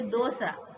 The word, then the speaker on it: dosa: You say dosa, dose, dosa. But in Hindi we use this da to pronounce dosa.